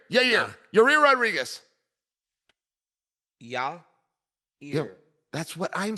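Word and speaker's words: Yair: did tell he said think about yah yah ear Yer but it must come out your your rear yeah you do I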